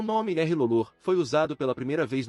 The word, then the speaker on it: R'hllor: Logicamente, as pessoas que falam Alto Valeriano confundiriam a pronúncia de uma palavra estrangeira, razão pela qual Thoros a pronuncia como Rulório, o que pode explicar o erro.